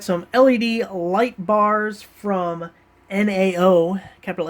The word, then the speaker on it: NAO: Since it's all capitalized, I'm assuming you spell it out and it's not like the word NAO, but hey, we're going to call it NAO.